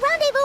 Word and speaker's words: rendezvous: Rendezvous. I would do, so Ron, R-O-N, Ron Day, D-A-Y, Vu, V-U.